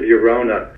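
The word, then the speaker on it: Llorona: And second disclosure, Tears of Yorona is spelled with an LL, not a Y. If you look for it with a Y, you'll never find it.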